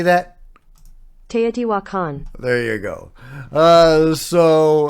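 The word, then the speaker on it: Tiwanaku: viewing uh but they all were seeing uh Tio Twan how do you say that te wakan there you go uh so uh yeah they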